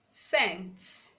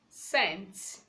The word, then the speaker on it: scent: Letter C is silent when it comes before EIY or after letter S. For example, we have the word scissors, scissors, science, science, scent, scent.